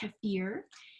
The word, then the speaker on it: kefir: of it kaffir it's que IR and it's pronounced kaffir and it's a milk it can be goat